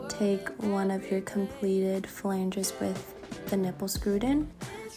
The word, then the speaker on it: flange: So grab your flange and a closed nipple. So I'm an idiot and I thought this is pronounced phalange. Flange. It's not.